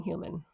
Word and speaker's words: Heumann: Human sounds like the word human, right?